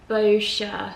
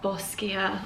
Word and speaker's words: Boscia: of days i think how to pronounce bosskia boscia not bosskia i'm really glad i